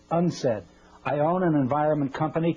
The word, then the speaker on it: UNCED: Nations Committee for Environment and development it is pronounced unsaid I own an environment company too and I'm